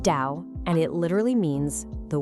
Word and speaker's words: 道: They called it the Tao. It's pronounced Dao, and it literally means the way.